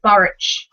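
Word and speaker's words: Burrich: i kind of said barrack with the k sound at the end when i read it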